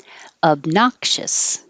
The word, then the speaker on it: obnoxious: second syllable overreach overreach obnoxious you don't release the k i'll put the little mark there to remind you don't say obnox but the tongue goes up in the k position obnoxious obnoxious stutter studder